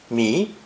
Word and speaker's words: 迷: It's pronounced second tone, mi, and originally meant to